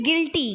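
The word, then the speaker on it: guilty: इसमें साइलेंट होता है फिर गिल्टी गिल्टी आप क्या कर रहे हो गिल्टी यू साइलेंट हो गया ठीक है गिल्टी पढ़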